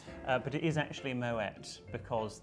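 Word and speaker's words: Moët: Uh, but it is actually Moet because the French founder of the Champagne House actually has Dutch origin and so it is pronounced Moette.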